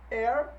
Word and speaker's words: heir: E aí eu chamo a atenção aqui para os nossos Hs mudo, quando o H não é pronunciado. Então no inglês existe apenas 4 palavrinhas que iniciam por o H não pronunciado aí, não audível. Heir, herdeiro. Honest, honesto. Hour, hora. E honor, honra.